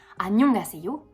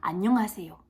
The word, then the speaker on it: 안녕하세요: Ce n'est pas un NG. Alors oui, en romanisation, c'est la manière la plus simple de retranscrire la prononciation, mais ça n'en est pas la prononciation. C'est-à-dire qu'on ne va pas prononcer 안녕하세요, on va prononcer 안녕하세요 avec une nasalisation.